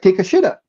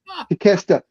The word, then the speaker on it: Takeshita: look, well, but when you see his name, and I just sounded out phonetically, so to me it just looked like take a shitta, because the Takashita, something like that, Takeshita.